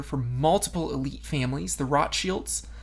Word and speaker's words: Rothschild: Well, Carlton Weiss was actually a private investigator for multiple elite families, the Rothschilds. That's actually how they're pronounced in their German name. Rothschilds is how we say them in America.